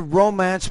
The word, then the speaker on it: romance: If I say I'm going to romance my wife tonight, or she romanced me last week, if I'm using it as a verb, I would put the stress in the second syllable, but because I'm focusing